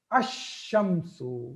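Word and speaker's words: الشمس: Now, when I attach al to that, I am not pronouncing lam. I am not pronouncing lam. How I'm saying that? Ash-shamsu. Lam is not mentioned at all. Though lam is there, but I'm just saying it ash-shamsu. Ash-shamsu.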